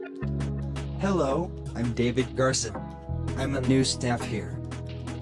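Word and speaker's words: Garza: your last name again garcia actually it's garson how do you spell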